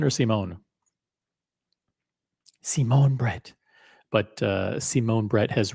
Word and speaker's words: Simon Brette: it in French or do I pronounce it in English uh Simon Brett and in in French it's Simon Brett Simone uh should we call him Simon or Simone Simone Brett but uh Simone Brett